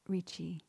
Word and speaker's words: Ricci: the American Republic's least known founding father, Lorenzo Ricci, pronounced Ricci.